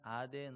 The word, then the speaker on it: 아덴: 에 아테네를 향했죠 아 성경에는 아덴 으로 되어 있고 그것이 정확한 발음 인데 영어로는 아테네 라고 합니다 아 성경에 기록된 그